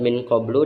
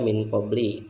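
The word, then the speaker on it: قبلُ: Dari al-burujuri _ kenapa lafaz min qablu dibacanya tidak min qabli, padahal ada huruf jar berupa min.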